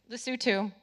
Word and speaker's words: Lesotho: I've studied places from, we have the same exact problem in England as, and I never pronounce it right, you tell me. Where? Lesotho. Lesotho.